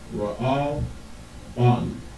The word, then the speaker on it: Reuben: So it will be pronounced, you pronounce these two, the and the Wa, you pronounce them together, and the Ba and the Na, you pronounce them together as well. So it will be Ra'al Ban.